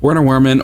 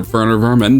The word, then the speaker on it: Werner Werman: Werner Werman, or Werner Vermin, depending on how you want to pronounce it.